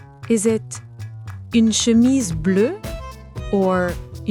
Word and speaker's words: bleu: Une chemise bleue. Now these two actually sound the same, bleu and bleue. The difference is in the writing, not the pronunciation.